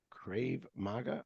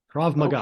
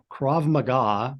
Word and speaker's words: Krav Maga: well you mentioned your fous reader exercising and crave Maga or am I pronouncing that or am I just KRA mag KRA Maga okay tell my audience well how about tell